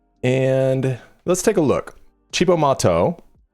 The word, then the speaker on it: Cibo Matto: Chibbo Mato pronounced this Italian for Crazy Food was a Japanese American band formed by Yukahanda and Miho Hattorii in New York City in 1994.